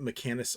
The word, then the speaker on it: Mechanus: We'll just write down Mechanus ore. Like mech, and then anus, and then ore.